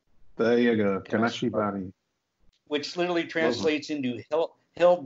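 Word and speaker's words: 金縛り: always wanted to ask you, how do you pronounce that Japanese word that means like sleep paralysis or the old hag? Is Kanashibari. There you go, Kanashibari.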